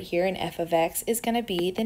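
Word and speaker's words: f(x): And just so we remember that this is pronounced f of x. This is not f times x, this is not f parentheses x, this is called f of x.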